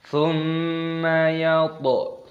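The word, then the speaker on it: ثُمَّ: Thumma yatma'u an azid. Thumma yatma'u an azid. Ada mim tasdid, hukumnya dibaca gunnah, maka didengungkan, dibaca thumma. Thumma, tapi jangan dipanjangkan thumma, tidak boleh.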